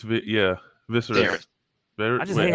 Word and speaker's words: Viserys: It's Viserys. I just hate how they spell these names, bro. I just hate how they spell it. Viserys.